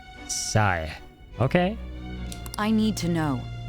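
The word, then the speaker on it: Sae: Say is pronounced like Sa-e, by the way. Ah, okay. Like Sa as in sanity. And as an egg. So, Sai.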